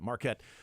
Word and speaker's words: Marquette: I'm reading here marquet it's exactly how you pronounce that Marquette the golden eagles and